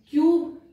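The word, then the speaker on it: cube: क्यूब, क्यूब में में मैंने आपको बताया था कि एक होता है कब, जब यहां पर साइलेंट ई जुड़ गया तो ये अपने से पहले वाउल को लॉन्ग कर देता है, क्यूब।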